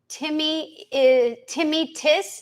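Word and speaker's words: tinnitus: It's pronounced both ways. Timmy-tis is also correct.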